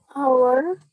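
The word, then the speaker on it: hour: Our ya. Jadi kita tidak baca hanya kita silent.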